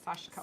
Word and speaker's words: sashiko: sashiko which we looked up that's how you pronounce it sashko sashko so this is sashiko So, this is an example of one.